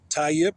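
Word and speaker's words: Tayyip: And then um tie yip. It sounds like a yip yip like a dog.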